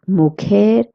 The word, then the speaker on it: mujer: The next word is mujer and esposa. It means wife. Please remember that J in Spanish is pronounced as H. That's why we're saying mujer. Mujer. It has a nice K sound in it.